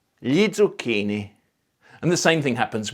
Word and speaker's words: zucchini: The same thing happens with other consonant clusters, including Z, because even though it's one consonant in the writing system, it represents ts or z. Lo zucchino, gli zucchini.